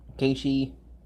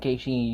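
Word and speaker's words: KSHE: It's on here, Keishi. Well, I said Keishi. You can probably guess how it's spelled. K-S-H-E.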